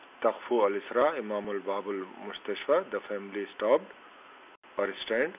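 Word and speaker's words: مستشفى: Again mustashfi we will not read, we will read the mustashfa because alif here over the ya is hidden, that's why.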